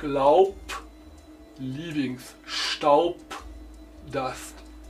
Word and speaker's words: Laub: In final position, B sounds like an P. Like Laub, leavings, Staub, dust.